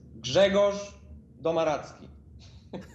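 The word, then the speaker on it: Grzegorz Domaradzki: to pronounce could you give us a proper pronunciation for everybody out there okay listen internet my name is jegos domaratsky but you can call me gumps i went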